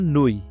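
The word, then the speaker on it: nuit: ইউ আই এর উচ্চারণ হবে উই, উই যেমন নুই, নুই মানে হচ্ছে নাইট বা রাত, নুই মানে নাইট বা রাত।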